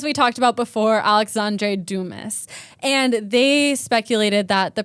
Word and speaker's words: Dumas: It's Alexander Dumas. I'm about to mispronounce a lot of names, so buckle up.